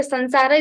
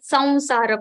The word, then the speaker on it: Samsara: At my place, the Sansara is also correct. But according to Sanskrit grammar, if we see universally, then we have to go with Samsara pronunciation. Okay, thank you. So better to say samsara because it has no,